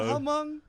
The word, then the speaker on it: Hmong: Is it just Hmong? Yeah, I think the H is silent. Oh, that's I because thought you it was guys. Hmong.